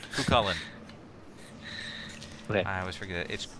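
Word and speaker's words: Cú Chulainn: My demonic father is Tutulian. Okay. All right. So now. And if we're going to be using that a lot, guys, it's pronounced Cucullin. Cucullin.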